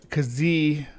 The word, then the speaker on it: Kijiburus: And he says it, spells it here as Kijiburus. So this is pronounced with the j sound.